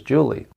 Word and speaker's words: July: It's late in the year for Julie, but it's really spelled July, J-U-L-Y. I asked Julie why she spelled her name like that, yet pronounced it as Julie.